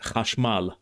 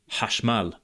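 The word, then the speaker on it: חשמל: In the dominant modern Hebrew accent, it's now pronounced hash mal rather than hash mal, but in the Mizrahi accent, it has the ha sound like in biblical Hebrew, hash mal.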